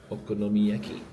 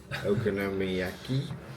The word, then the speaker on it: okonomiyaki: Um we tasted our first Go on, you pronounce it. Okonomiyaki. Okonomiyaki.